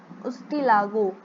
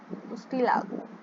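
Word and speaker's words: Ustilago: उसके बाद है उस्टिगो, उस्टियागो है एक्चुअली, उस्टियागो, उस्टिलागो, उस्टिलागो।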